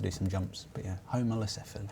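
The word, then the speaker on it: Homalocephale: But yeah, homolocephaly. Homolocephaly. Yeah. Not cephalus. No.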